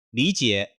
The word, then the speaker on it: 李姐: 「李傑」是第三聲，第三聲。當兩個三聲並讀時，第一個 “ 李 ” 變成二聲。李傑 .